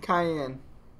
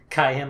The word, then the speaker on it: Cayenne: Cayenne. Yeah, Cayenne. Cayenne, like the pepper?